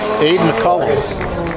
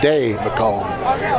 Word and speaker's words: Ade McCullum: That is Aiden McCullum. Hands off to number 3, Ade McCullum. Ade McCullum, it is pronounced.